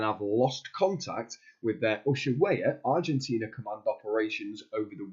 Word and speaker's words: Ushuaia: This is from the Nevada County Scooper that's saying that it's based in, you pronounce it, Ushuaia, Argentina.